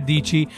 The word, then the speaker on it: Dietschy: and popular YouTuber, Sara Dietschy, to come check it out. Hello everyone, my name is Sara Dietschy, rhymes with peachy.